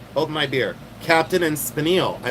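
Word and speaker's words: spinel: Captain and Spanil. Did you guys know there's a gemstone named after Captain and Spinal? There is. It's called Spanil, not Spanel.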